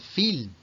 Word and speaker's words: feel: Otro también muy típico, el feel, el sentir. El feel es feel, felt, felt. No lo confundéis con el caerse, que es el fall, fell, fallen. Feel con dos es y pronunciado una I larga, felt, felt.